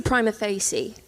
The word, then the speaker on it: prima facie: I say prima facie.